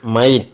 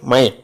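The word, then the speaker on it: mein: ഉള്ളതിന് ആ ഉച്ചാരണം വരും ഫോർ the letters E I combined it ഹാസ് the pronunciation of എ ഐ ഐ for example M ഇ ഐ N pronounced which is മൈൻ നോട്ട് ആസ് മെയിൻ ബട്ട് മൈൻ similarly sign S ഇ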